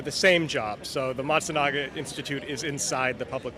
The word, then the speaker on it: Matsunaga: so what does the how do you pronounce it montanaga matsunaga matsunaga um what is that so